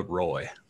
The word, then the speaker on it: Roy: times in my life joshua roy there you go like patrick ward like patrick roy um how is peter